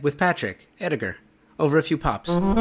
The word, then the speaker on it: Ediger: Hard G or soft G? Hard G. Ediger. Ediger.